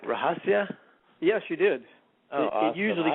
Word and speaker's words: Rahasya: uh did did i say your name right rajasia yes you did he usually gets butchered but that's pretty good all right so